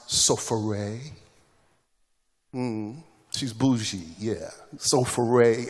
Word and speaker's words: Sapphira: ananias and his wife we call her sapphira but her name is actually pronounced sofare um she's bougie yeah